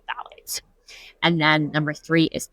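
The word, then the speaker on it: phthalates: So the sec number two is called phalates. That's spelled p h t h a l a t e s. phalates.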